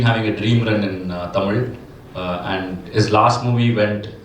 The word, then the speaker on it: Tamizha: that's not Tamizha, that's Tamila.